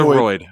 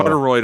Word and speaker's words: carotid: His carotid. Cartoroid.